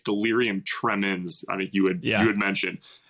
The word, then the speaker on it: delirium tremens: I thought it was delirium tremors. Apparently it's delirium tremens.